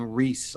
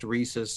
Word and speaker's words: Reese's: just over time people just start saying Reese I think um I don't think I'm the only person that does that um I do know it's pronounced reesus and I do know that I was pronouncing it wrong and I admit